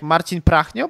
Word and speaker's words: Marcin Prachnio: Marcin Prachniał. Yeah, pretty good, pretty good. I would say like Marcin Prachnio, but it's very close.